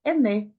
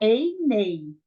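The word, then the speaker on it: עֵינֵי: Ené. Não, lembra que serê seguido de iode, o iode é mudo. Você não vai falar einei.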